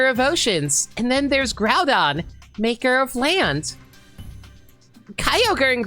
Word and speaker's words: Groudon: G-R-O, grow, you, so grow, so Groudon. I think I was pretty on point with that name, don't you think? And Kyogre. Like, I always pronounce that as Kyogre. Thank you for not saying you called it Gordon. Yeah, it's like grow as in through.